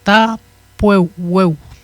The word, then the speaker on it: Tapueo: Le U ne se prononce pas Weo, là. Il se prononce Tapueo. Okay. Comme si ce serait OU, mais en cours, là.